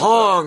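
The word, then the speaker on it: Haung: It's spelled like H A U N G or something. Hong. Okay. Hong.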